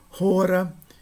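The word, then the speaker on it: ὥρα: Rora. Espírito forte com aspiração significa tempo, duração.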